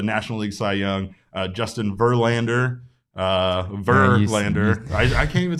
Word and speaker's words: Verlander: Justin Verlander, I can't even say it right now. No, you're just like overemphasizing all of the wrong syllables right now. Verlander, that's it. It's easy. Justin Verlander, the timeless wonder.